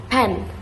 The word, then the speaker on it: pen: And after that we also learn about aspirated consonants like the strong P sound in pen.